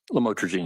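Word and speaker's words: lamotrigine: about the u the lamel otherwise known as lamatraine. Did I pronounce that right? Lamotraine.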